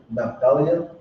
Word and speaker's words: Naphtali: that's how you say it in Hebrew. Naphtali.